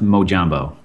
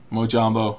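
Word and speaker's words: mojombo: say your Twitter handle my Twitter handle is pronounced mojambo mojambo okay yes it come it comes from that's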